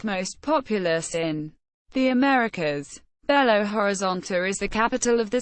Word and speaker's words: Belo Horizonte: Belo Horizonte, Portuguese pronunciation, ʻbɛloɾiˈzõtʃi, beautiful horizon, is the 6th largest